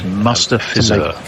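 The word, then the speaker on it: Mustafizur: It's Mustafizar.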